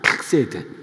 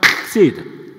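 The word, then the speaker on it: חסד: 거기에서 인애, 요게 칵세드입니다. 칵세드. 한번 발음을 좀 따라해 주겠습니까? 칵세드. 여러분 히브리 다 잊으셨죠? 요 칵세드 할 때 요 단어가 요게 막혀 있으면은 크게잖아요. 이게 가래뱉기 직전입니다.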